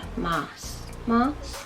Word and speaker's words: Maas: Maas, I think it's pronounced. It's got 2 A's in it.